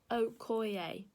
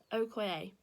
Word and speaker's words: Okoye: It's actually pronounced Okoye. Okoye.